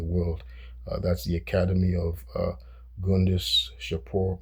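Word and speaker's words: Gundishapur: That's the Academy of Gundis Shapur, it's pronounced Jundis Shapur, Gundis Shapur.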